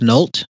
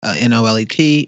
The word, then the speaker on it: Nolet: I am currently sipping on my favorite gin, and I believe it's pronounced Nolt, but other people will probably see it as Nolet, Nolet.